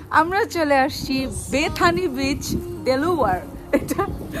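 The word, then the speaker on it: Delaware: আমরা চলে আসছি বেথানি বিচ, ডেলাওয়ার। এটা উচ্চারণ করতে আমার খুবই কষ্ট হয়, এটা আমরা বাংলায় বলি ডেলাওয়ার, বাট এটা হবে ডিলাওয়ার, সো খুবই ইম্পসিবল।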